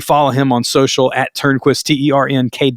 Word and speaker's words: Turnquist: Make sure you follow him on social at Turnquist, Ternkwist. That is not how he spells his name. That's just like the phonetic pronunciation of his name.